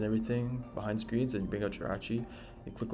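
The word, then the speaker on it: Jirachi: Next up is Gerachi or Giri. Let me know what you pronounce it like. I like to say Giri sometimes to rage bait people, but um most of the time I'm just going to say um Gerachi for this video.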